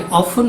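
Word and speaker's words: often: इसमें जो टी है वो ज्यादातर साइलेंट रहता है।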